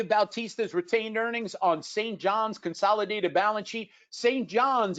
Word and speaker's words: St. John's: Oh, they're telling me how to pronounce it. St. John. Okay, whatever you say.